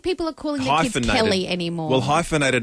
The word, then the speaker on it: Kel: He said C-A-L. It's Kel, everyone. K-E-L.